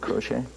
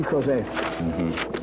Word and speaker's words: Crozet: Is that how you pronounce it, Crochet? Crozier? Most people just call him, who's that fag? No, no, it's J.C. Crozet.